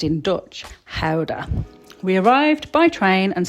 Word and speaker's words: Gouda: Today we are visiting the beautiful Dutch town of Gouda, or as it's pronounced in Dutch, Gouda.